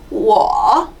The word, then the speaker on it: 我: 발음할 때는 원래 우어인데 앞에 성모가 아무것도 없다. 뽀포, 모포 같은 성모가 아무것도 없다 할 때는 W로 바꿔서 U를 W로 바꿔서 적어줘야 돼요. 성모 역할을 대신하게 됩니다. 그래서 WO는 발음이 사실은 UO예요.